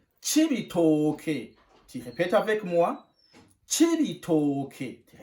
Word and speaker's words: Cibitoke: On prononce Cibitoke.